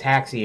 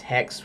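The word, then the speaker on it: Haxe: hacks hacks II I always thought it was hack C originally it's spelling h ax e but they say it's it's pronounced X because you know they have the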